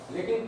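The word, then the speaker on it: Locke: अब इसका pronunciation लॉक है नहीं कर देना, लॉक है, इसको लॉक पढ़ते हैं, ई साइलेंट पढ़ता है।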